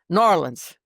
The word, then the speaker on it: New Orleans: to say it like with marbles in your mouth. New Orleans. It's very good. It's one word. It's not two words.